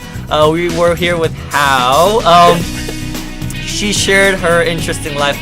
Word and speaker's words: Howe: Who, but Howe with an E. Howe with a silent E. Right? Kind of like a silent E, but it's like how. We were here with Howe.